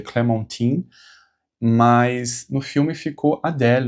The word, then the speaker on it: Clementine: Na verdade a pronúncia correta seria Clementine, mas no filme ficou Adelle, né?